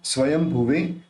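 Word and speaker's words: स्वयंभुवे: समय दोनों मिलेंगे तो अपन इस बिंद का उच्चारण म के रूप में करेंगे स्वयं स्वयं भवे नमस्तुभयम स्तु भ्य नमस्तुभयम स्तु भ्य मुपा मुत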